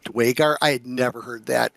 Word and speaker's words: Duergar: But but To me it's always been Duergar. The official DDO players pronunciation is going to be Duergar.